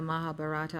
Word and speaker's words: Mahabharata: Mahabharata is spelled M-A-H-A, B-H-A-R-A-T-A.